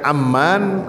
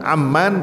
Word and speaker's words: Amman: Kalau Bapak-bapak bacanya Amman. Amman pakai alif eh maaf pakai fathah. Yang dimaksud dengan aman itu adalah Yordaniah. Ini segitu melesetnya nih, Pak. Amman dengan Umman.